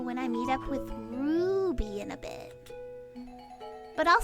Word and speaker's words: Ruby: Stella, you never say my name right. It's Ruby. You gotta say it with the roo.